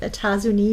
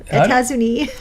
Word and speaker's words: États-Unis: États-Unis. États-Unis. There's extra letters at the end there, but they always drop the pronunciation of the letters near the end of the word. You don't see the S there.